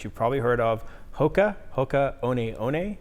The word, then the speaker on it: Hoka One One: Hoka One One is how you say it.